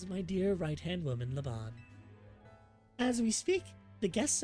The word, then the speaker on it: Leon: I've been saying it wrong. It's Leon, not Lean.